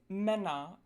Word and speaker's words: Männer: The lax umlauts tend to occur in closed syllables, so syllables that end in consonants. These are often spelled with double consonants too. Some examples are Götter, Männer, and Müller.